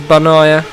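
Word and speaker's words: Bagnaia: fnatic crashed and here's benaiah it's on correcting me it's not bad no you don't pronounce the G so silent G correct me if they're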